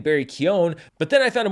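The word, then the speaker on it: Keoghan: interviews with him where his name was pronounced kind of the more traditional Irish way which is Kion so I started saying Barry Kion but then I found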